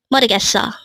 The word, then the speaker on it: 모르겠어: And again, if these four syllables are read as a whole, it becomes 모르겠어. And with that, you've just learned 모르겠어.